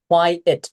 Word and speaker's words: quiet: And also quiet place, not quite place. It's quiet. It's Okay.